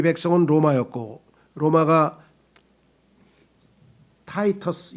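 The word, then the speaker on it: Titus: 역사를 살펴보면 이 백성은 로마였고 로마가 타이터스, 영어로는 타이터스라고 하고요. 또 그 라틴어로 하면 티토라고 하고요. 티토라고도 발음하고 영어로 하면 타이터스라고도 하고 하는 이름을 가진 로마의 장수가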